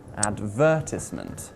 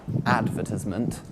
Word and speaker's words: advertisement: let's take a look the word advertisement has four syllables and we place the stress on syllable number two advertisement not on syllable number one advertisement or syllable number three advertisement oh no no no no no that would just sound weird so i hear you